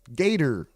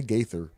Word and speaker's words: gaiter: I just got a neck gaiter. Pause if necessary. Something about that just don't sound right. You're not supposed to pronounce the H, but it sounds weird when you say. Let me say Gaither.